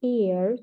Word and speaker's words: heir: Died at a very young age from drug abuse despite being the heir to a huge fortune. Видите, спадкоемец будет читаться наследник heir, без х, как в испанском практически.